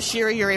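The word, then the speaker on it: 白百合: of like Shir Yuri you don't stress that last syllable you say it all in one it's and it makes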